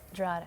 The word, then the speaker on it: Drogheda: Drogheda, or yeah. And how do you say it? Drogheda. I like the way you say Well, it. if you're in my hometown, you'd say Drogheda. Drada.